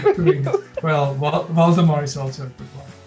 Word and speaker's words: Waldemar: My name is Waldemar. That's a German pronunciation. And Waldemar pronounced with a V, not with a W. Got it. It's Waldemar.